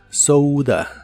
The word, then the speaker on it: soda: llamen en donde vives la o de esta palabra se pronuncia como ou soua soua y es hora